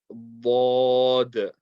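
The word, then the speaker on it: ض: We're going to raise the back end of our tongue, apply pressure on the makhraj, and slowly release the sound and round our mouth. So what I want everyone to do is try to put the side of your tongue on the side of the back teeth, put pressure there, then slowly release the sound and say like Dad, Dad, Dad. Okay, that's how you're going to read this letter.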